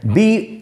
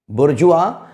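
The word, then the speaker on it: bourgeois: कूड़ा करकट कचरा मलबा एक शब्द यू आता है बोर्गे है दिक्कत ए सकती है हमें पढ़ना है burjva यानी की बर का साउंड निकलना है और बिरजू का अर्थ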